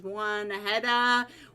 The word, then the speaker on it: Juanita: I keep saying it wrong, guys. It is Juanita.